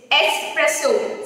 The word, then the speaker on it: espresso: Espresso. It's espresso. Sa, sa. Not ex. It's not espresso. No sound of X is made while we pronounce this word.